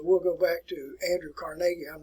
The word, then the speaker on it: Carnegie: All right, the name is pronounced Carnegie. A lot of people say Carnegie, but Carnegie is actually the better pronunciation.